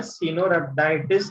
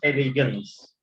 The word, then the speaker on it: Caenorhabditis elegans: Organism है Caenorhabditis elegans.